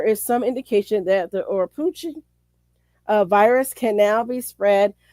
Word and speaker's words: Oropouche: The pronunciation Oropouche, oh good, he gave me Oropouche, is harbored in birds, monkeys, rodents, and sloths.